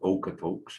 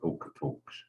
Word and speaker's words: Okotoks: So at Okotoks, and Okotoks, of course, we all know it's mispronounced. It's supposed to be Okotok, not Okotoks. That often happens when our words are anglicized, they sound different.